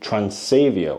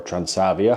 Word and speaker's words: Transavia: And hello everyone, welcome to Rotterdam Airport, where we are now going to take Transavia, or Transavia, however you want to pronounce it.